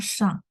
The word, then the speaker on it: 上: Ya, bacanya shang.